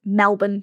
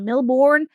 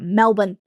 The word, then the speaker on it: Melbourne: We we pronounce it Melbourne, by the way. Like, I know that it sounds like there should be an A in there, but it's not. And often we hear people like Melbourne.